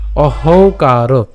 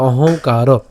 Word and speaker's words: অহংকার: এরপর অহংকার, অহংকার, কেন এই যে আমরা এখানে যে যুক্ত